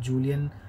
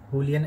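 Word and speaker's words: Julián: But again एक तीसरा बंदा है जिसकी हम बात करना ही पड़ेगा, वो है जूलियन, या फिर उनको करेक्ट प्रोनाउंसिएशन है हुलियन एल्वेरेस, जो कि अर्जेंटीना के स्ट्राइकर थे।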